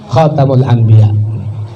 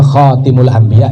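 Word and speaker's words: خاتم الأنبياء: Khatamul Anbiya. Khatamul Anbiya boleh, bacanya Khatimul Anbiya juga boleh, ada makna tersendiri.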